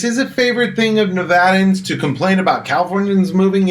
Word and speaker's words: Nevada: to become a local do not pronounce nevada nevada at some point this will be like nails on a chalkboard for you too yeah stand out that you're not a local if you're pronouncing nevada wrong anyway back to our